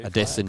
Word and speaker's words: Adesanya: Well, there's a Kiwi mixed martial artist called Israel Adesanya. But it's actually supposed to be pronounced slightly differently. Is that the one he fights under 2 Adesanya.